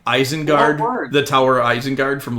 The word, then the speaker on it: Isengard: And Mark was like, Mike, it's Isengard.